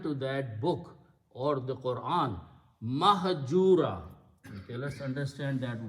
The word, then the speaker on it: Quran: scripting is different but the important thing is that on all of us pronounce Quran Quran Quran we don't combine these two we combine half with the alif Quran we should pronounce this